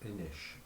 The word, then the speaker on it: Inis: And it's actually pronounced Inish, but I find that a bit pretentious.